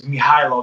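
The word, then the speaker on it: Mihajlo: um and uh that's my real name it's mihailo that's my government name and okay it's spelled m-i-h-a-j-l-o so when i put that on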